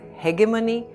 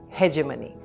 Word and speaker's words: hegemony: The British pronounce it as heggemony and the Americans say hegemony. Both are correct.